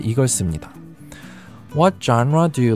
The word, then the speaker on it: genre: 제일 먼저 genre. 이게 사실 장르라는 단어가 되는데요. 이 단어의 발음을 어려워하시는 분들이 많습니다. 장라라고 생각하시면 되는데요. 여기서 라만 조금 약하게 말한다고 생각하시면 됩니다.